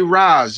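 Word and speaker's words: Ra's al Ghul: get it up soon how do you pronounce Rachel Ghul is it Raza how many times I get extra it's right Rachel Ghul this race some say Roz this race shall go I pronounced like that um are you gonna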